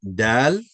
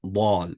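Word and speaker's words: دال: So like I said this letter it name is dal and not ball right? So pay attention some some students say ball but it's dal with a a not a with a a sound and same thing this will affect the sound.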